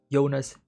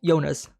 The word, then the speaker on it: Jonas: Both characters, Jonas and Jonas, can be pronounced as Yona, right? Yona or Jonas, right?